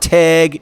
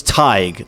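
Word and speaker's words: Tadhg: It's not Tag, it's not Tj, it's Tig, ladies and gentlemen.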